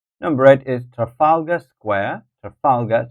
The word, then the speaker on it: Trafalgar: eight is Trafalgar Square Trafalgar so that will be the second syllable Trafalgar Square and then number nine